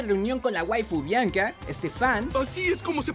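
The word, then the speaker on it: Stephan: Momento de reunión con la waifu Bianca, Stefan. ¡Así es como se pronuncia!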